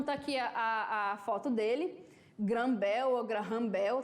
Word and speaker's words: Graham Bell: Graham Bell Graham Bell ta dependendo aí da pronúncia eu gosto de falar granbel Tá bom mas se você for jogar no Google Translate pode se falar agarram Bel também ok tá aqui a foto